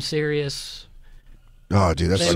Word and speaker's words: Sirius: My family still can't pronounce the company I work at. What do they call it? They still say Cyrus. My mom calls it Cyrus. Oh. And then they call it XM Sirius.